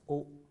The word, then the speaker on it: au: In such case, they both will combine and form a new article, au, pronounced as o.